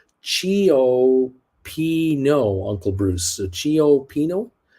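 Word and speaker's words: cioppino: Credit Services says it's pronounced Chio Pino, Uncle Bruce.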